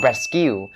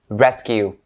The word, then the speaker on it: rescue: talked about so rescue all you have to be aware of when pronouncing this word is the s out and make sure you don't miss it so rescue rescue rescue and also the primary stress is upon the first syllable so rescue rest skew